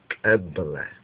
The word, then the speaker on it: Kabbalah: Now, when you look at that word Kabbalah or Kabbalah or Kabbalah, the correct pronunciation would be Kabbalah.